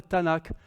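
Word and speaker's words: Tanakh: pas ça comme ça ils appellent ça le Tanak c'est le Tanak les trois les trois consonnes vu que les voyelles ne s'écrivent pas en hébreu mais elle se prononce TNK c'est un pronomçable mais oralement on dira le Tanak dans le Tanak pour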